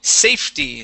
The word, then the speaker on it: safety: one right here is safety so the e is going to be silent okay we'll go from that f to the t y safety safety very nice